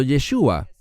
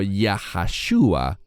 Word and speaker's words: Yeshua: nehemia nehemías capítulo 8 él es llamado yeshua no Como algunos mal pronuncian el nombre del mesías diciendo yahua en ninguna parte de las escrituras vemos eso no lo que que vemos es yeshua y no entraré en